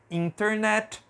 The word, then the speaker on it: internet: desse jeito mas aqui Principalmente nos Estados Unidos é muito comum a gente não pronunciar a letra T depois da letra e n Então vou riscar